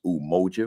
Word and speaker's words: Umoja: There are 7 days, and today is Unity Day, and it's pronounced Umoja, which is Kiswahili.